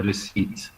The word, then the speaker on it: receipt: This is a receipt. The P is silent.